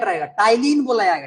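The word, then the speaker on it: ptyalin: इसमें P silent रहेगा टाइलिन बोला जाएगा टी वाई एल आई एन टाइन टाइलिन पी साइलेंट रहेगा यहां पे इसको बोलते है टाइलिन इसी को बोलते है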